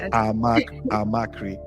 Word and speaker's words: Amakri: Couple of people see the name and they pronounce the CH like tree, but I don't know, it's Cree. It's actually Cree.